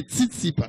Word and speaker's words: Tsitsipas: non, c'est Stéphanos Tsitsipas. Les- Tsitsipas. Non, le gon S que yo pas. Non, non, non, TS, ça, c'est Tsitsipas.